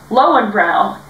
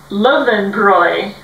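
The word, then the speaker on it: Löwenbräu: to be drinking lowenbrow and everybody was saying low and brown and he started cracking up and we're like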